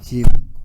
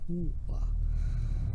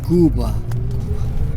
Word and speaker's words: Quba: Not Cuba. Quba. So, spelled like Q, say like a G. Quba.